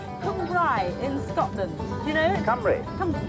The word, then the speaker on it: Cumbrae: ferry we're about hungry in scotland you know camry how do you pronounce it camry camry and i've been pronouncing it wrong for